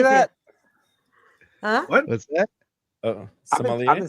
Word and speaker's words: sommelier: Sommelier? I've been saying sommelier. Sommelier. The R is silent.